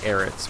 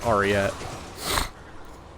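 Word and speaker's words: Arreat: say ariat i mean i used to say eric's when i was younger but it's ariette and so to this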